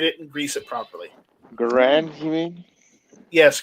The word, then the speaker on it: Garand: Garand, you mean? Yes, Garand. Well, that's not how he pronounced his name, but okay. Like Grand. That's how I know it.